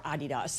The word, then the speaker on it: Adidas: Do we know how Adidas is responding or Adidas if if you're, you know, dedicated to the German pronunciation, how they're responding to the the World